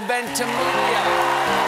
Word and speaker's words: Ventimiglia: Milo Ventimiglia. The chain is silent.